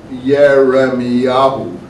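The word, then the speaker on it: ירמיהו: Yeremiyahu. The Yahoo is God added at the end of the syllable, like same with Isaiah, Ishiyahu.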